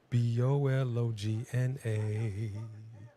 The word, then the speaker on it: Bologna: Because Oscar Mayer has a way with BOLOGNA. And I just flipped it for Italy. But it's actually pronounced different. Bologna.